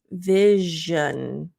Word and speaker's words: vision: is a this one it's a similar mouth placement as sh but there's a vibration Vision so not Vision Vision